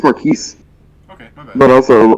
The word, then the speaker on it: Marquise: I thought it was pronounced Marquis, But, it's French, isn't it? Mm-mm. Oh, okay. It's Marquise.